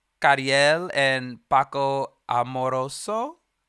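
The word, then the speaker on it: Ca7riel: Next up, we have, and I should have learned how to say their names correctly, Kariel and Paco Amoroso.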